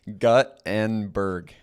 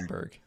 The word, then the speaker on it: Guttenberg: It is Guttenberg. is it God? Guttenberg. Yep. See, Okay. Gutenberg sounds right to me, and it maybe sounds a little cartoonish when I say that.